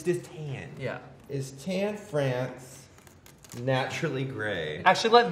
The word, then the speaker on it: Tan: cohen kept pronouncing it tarn just say the letters t-a-n yeah i think people